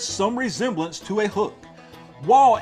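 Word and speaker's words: וו: WaW is a labial spirant, identical in sound with the English W or W.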